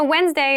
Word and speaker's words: Wednesday: wednesday wednesday wednesday so wednesday is the middle day of the week but keep in mind this is pronounced wednesday there's a d there but we don't say wednesday we say wednesday wednesday the 18th wednesday the